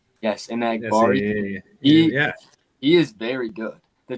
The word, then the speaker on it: Enagbare: I don't know how to pronounce that one guy's name. Kingsley Enagbare. Yes, Enagbare.